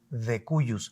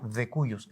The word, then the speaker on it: de cujus: jurídicos le llamamos el de cuus se escribe de cujus con j pero decimos de cuus es un latinajo de